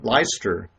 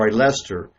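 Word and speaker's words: Leicester: going to school in leister I'm so Lester less I always mispronounce that name which is I think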